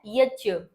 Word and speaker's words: यज्ञ: यज्ञ का सही प्रोनंसिएशन क्या है? यज्य। क्यों है? इस ज पर हम बहुत पहले बहुत विस्तार से बात कर चुके हैं। तो जिसे मैं यज बोल रही हूं। वह आपके उच्चारण के अनुसार यज्ञ है।